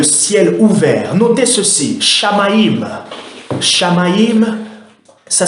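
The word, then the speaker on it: Shamayim: Shamaïm, ça s'écrit S-H-A-M-A-Y-I-M. Je le répète, Shamaïm.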